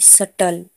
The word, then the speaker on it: subtle: SUBTLE, सटल। यहाँ पर भी टी से पहले बी है तो बी का उच्चारण नहीं करेंगे हम।